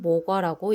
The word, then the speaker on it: 모과: 산목과 토목과 화이목, 화류목, 향목과 대이, 모기 등의 다른 이름으로도 불리지만 공식적인 식물 이름은 모과나무, 생약 이름은 나무목자 오이과자를 써서 모과라고 쓰고 읽을 때는 모과라고 읽습니다.